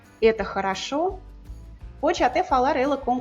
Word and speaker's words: это хорошо: Por exemplo, a frase «это хорошо», a pronúncia natural é com muitos As, «это хорошо», pode até falar ela com todos os, «это хорошо».